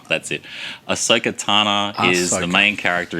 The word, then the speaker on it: Ahsoka: pronounce that next one this one just say Ahsoka that's it Ahsoka Tana is the main